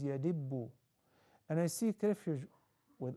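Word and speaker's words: يدب: The right pronunciation is yadibbu.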